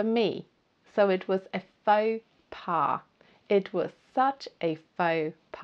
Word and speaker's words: faux pas: Faux pas.